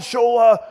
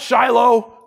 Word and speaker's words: Shola: I'm like, then finally his hand shot up, and he's like, you know what, Shola? Or actually, he mispronounced my name. You know what, Shiloh?